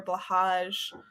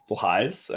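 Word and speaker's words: Blåhaj: was people are asking where all of your blahages are. Blahais, I think you mean? Blahais. Is that how it's supposed to be pronounced?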